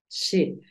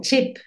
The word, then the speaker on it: ship: La sh es un poquito más suave. Es como cuando le decimos a alguien que haga silencio. Entonces tú dices ship. No es tanto como chip, no es esa tan fuerte como la que usamos en español.